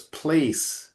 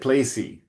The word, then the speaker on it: place: So one thing in English and this sometimes happened for Brazilian speakers there's a silent e at the end of the word. So, it's place and the E is